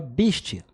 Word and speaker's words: Beastie: Eso proviene de la pronunciación inglesa, BSD, que se pronunciaría algo así como BSD. Entonces, hablando rápido, podría transformarse en Beastie, ¿sabes?